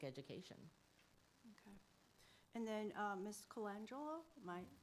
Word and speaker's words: Colangelo: Colangelo, am I pronouncing it correctly? Colangelo, yes.